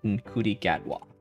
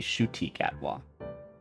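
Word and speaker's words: Ncuti Gatwa: but I didn't know in CI gatw I know Doctor Who is super super popular especially especially in BR um I pronounced wrong it seems to be shoti atwa there you go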